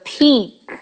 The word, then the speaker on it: peak: The peak is yet to come, the peak, not the peak, because the pick, if peak.